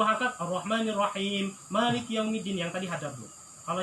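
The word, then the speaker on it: مالك يوم الدين: Makanya ini harus benar bacanya. Iya, li'anna tabi'iyya salamata la yazidu wa yanqusu an haddihi. Karena sesungguhnya punya karakter yang baik ataupun yang pemikiran yang sempurna, itu pasti akan bacanya 2 harkat ketika membaca matobi'i gitu ya.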